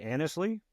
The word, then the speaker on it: Annesley: Today's guest on the Whole Story Podcast is Annesley. I hope I pronounced that right.